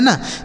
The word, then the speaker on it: knee: ठीक है, तो यहाँ के साथ यन है ना, तो यह के साइलेंट है। इसे क्या पढ़ेंगे NEE, इसे पढ़ा जाएगा नी।